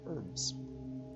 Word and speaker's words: herb: She deals in potions and herbs. Herb. Which is silent, so.